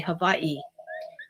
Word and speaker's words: Hawaii: And we say Hawaii, but the Hawaiians here they say havi. So, uh, that V and W, we see that kind of work in the German language with that letter, the the V pronunciation for the W letter.